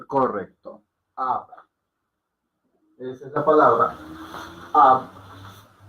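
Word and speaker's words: अब: Si alguno me colabore, me dice o me escribe cómo se pronuncia. Correcto. Ab.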